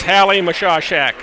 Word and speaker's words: Mashashak: And I hope I got that pronunciation right. It's quite a mixture of I's and A's and S's, but it's Coach Scott Morgan of the Kernels told me it is Hallie Mashashak.